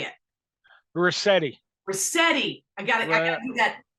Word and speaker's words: Ruscitti: Ruscitti. I gotta do that pronunciation thing that your brother has.